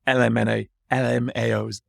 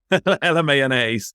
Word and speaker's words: LMAOnaise: So not necessarily them, but if there were try and say it right, LMAOs. LMAOnaise. There we go.